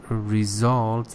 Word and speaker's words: result: you said as a the the stresses on result the second syllable is at result I